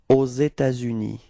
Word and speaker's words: aux États-Unis: There is this liaison between this final S of État and then this U, okay?